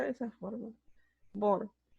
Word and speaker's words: Bohr: Bohr, se pronuncia de esa forma. Bohr.